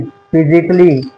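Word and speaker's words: physically: अब इसको सही प्रोनंसिएशन करने का तरीका क्या है? क्योंकि यहां पे रूल ने बताया कि ए साइलेंट है। तो इसको हम साइलेंट कैसे करें? फिजिकली, फिजिकली, क्रिटिकली, लॉजिकली। इस तरीके से हमें पढ़ना है।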